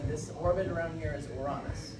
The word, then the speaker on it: Uranus: It's pronounced Uranus. It's a Greek name.